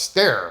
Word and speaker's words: sterre: So as long as you are stare s e r r e is pronounced stare.